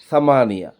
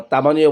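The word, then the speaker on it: ثمانية: সাতের আরবি হচ্ছে সেবা আট আটের আরবি হচ্ছে সামানিয়া বা তামানিয়া বলতে পারেন তবে সামানিয়া এটা মানে মানে সৌদিটা এভাবে উচ্চারণ করে সামানিয়া আপনি সামানিয়া বলতে পারেন বা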